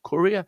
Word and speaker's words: courier: And the stress point there on the first syllable, courier.